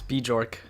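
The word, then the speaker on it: Björk: having a a a bork and good time are you oh my god that's not how you say it it's bee jork um hi all right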